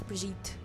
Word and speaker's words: Brigitte: Bridget Bardot. Can you tell I'm mispronouncing her name on purpose? I know it's Brigitte, because the bitch was French.